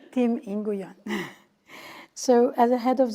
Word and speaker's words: Nguyen: So Tim, and I apologize, I mispronounced your last name wrong when I started. So it's Tim Nguyen.